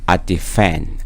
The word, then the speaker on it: defend: and with defend I defend인데 여기도 좀 약하게이가 거의 생 발음이 안 되고 defend over again놈이 됩니다. over again. I defend defend하고 여기가 강세가 있어요.